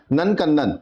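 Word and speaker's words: नंदनकानन: इसका प्रोनाउंसिएशन होगा नंदकंदन।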